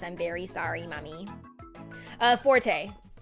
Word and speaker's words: Forte: And then yeah forte is supposed to be like you know like oh this isn't my forte blah blah you know whatever.